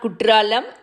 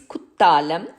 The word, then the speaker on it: Kuttalam: So this is not Kutralam, this is Kuttalam.